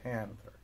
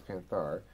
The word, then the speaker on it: Panthar: Because I want to put the accent on the first syllable, right? Panther. Right. Like Panther. Right, yeah. Okay, so Panthar, though, is not Panther, it's Panthar.